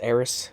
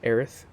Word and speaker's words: Aerith: main story plots um it's eris not earth well i've been pronouncing it aerith um yeah it's i